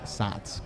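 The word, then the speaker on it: Saaz: but it's SATs hops sa a a z pronounced SATs kind of as an a t uh and then the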